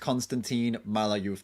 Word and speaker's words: Konstantin Malayov: By the way, it's pronounced Konstantin Malayov. He told us.